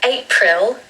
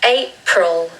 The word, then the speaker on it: April: want a British accent, there should be a schwa on the second syllable. So it's not April, it's April, April. Oh, you can hear that schwa. And really the first syllable is just the letter A.